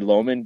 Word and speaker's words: Loughman: ] do you want low man that's that's what so some people call me Loman just because of Canadian pronouncing she says what the